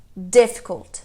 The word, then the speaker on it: difficult: Essa também é na primeira sílaba. Difficult, que é um adjetivo, né?